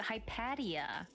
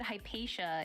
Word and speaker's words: Hypatia: oh you pronounce it hypadia for some reason I thought you said hypatia in the chat the other day so I apologize if